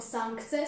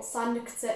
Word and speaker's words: sankce: Správně by proto toto slovo mělo být vyslovené jako sankce s nosovým N, bylo vysloveno špatně jako sankce s klasickým N.